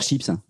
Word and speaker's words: chips: Pomme de terre chips. Non. Chips. Une chips sans le une chip. Ah oui. Tu vois? Sans le S. Vous prononcez pas le S.